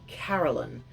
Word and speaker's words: Carolyn: the name carolyn now the pronunciation of carolyn can be a bit tricky because as you can hear me saying it i'm saying caroline so it sounds like ca orlean the r seems to be hidden underneath an invisible